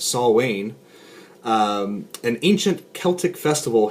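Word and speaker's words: Samhain: little something like this uh Sam Hayne or it has a pronunciation here which is I guess saw Wayne um an ancient Celtic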